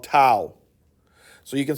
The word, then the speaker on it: tau: this fancy t called tau so you can say tau could be two pi it could be t-a-o i think in the greek symbol but rhymes with cow which is c-o-w but they're not spelled